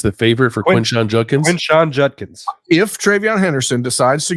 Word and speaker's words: Quinshon Judkins: Quinshon Judkins.